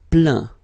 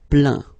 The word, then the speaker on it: plaint: Plaindre, plaint. Okay, and as usual, final T here is not pronounced, so you get craint, contraint, plaint.